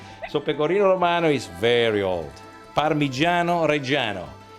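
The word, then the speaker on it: Parmigiano Reggiano: Pino is very old parano reano don't call parmeson please because parmeson is a different product is an American imitation of parano reano parano reano is only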